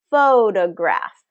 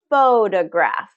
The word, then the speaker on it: photograph: So we have faux, longer, louder, higher pitch, photograph, photograph. Okay, hear that stress pattern. So which syllable is being stressed? Well, it's the first syllable, photograph. And I want you to